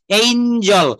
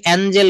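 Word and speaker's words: angel: ইউ সবগুলো সুন্দর করেছো এইঞজল আমরা ভুলেও কখনো আজকে এঞ্জেল বলবো না এঞ্জেল।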